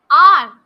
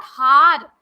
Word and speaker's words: hour: Then R, HOUR. H is silent here. This is not har. It is r.